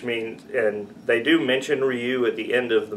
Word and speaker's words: Ryu: 2009 there's no excuse for him to say Ryu yeah instead of Ryu at the end of that movie but it